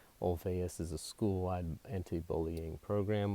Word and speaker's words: Olweus: there's a program called Olweus it's but a little youth when it's pronounced with a V Olweus is a school-wide anti-bullying